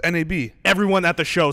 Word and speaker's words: NAB: it's just they they they spell it out NAB yeah I've heard